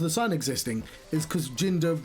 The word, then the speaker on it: Jinder: And so there used to be signs that say "Don't hinder Jinder," and partly the reason for the sign existing is because Jinder rhymes with hinder, and like some bright